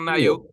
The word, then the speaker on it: NIO: Do we pronounce it NIO or NIO?